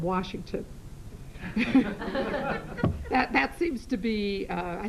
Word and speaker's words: Washington: And then there's no R in Washington.